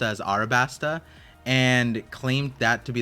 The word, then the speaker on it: Alabasta: So Noor said, Par, longtime supporter here and love your content, bro, but I cringe every time you pronounce Alabasta as Arabasta and claimed that to be the correct way.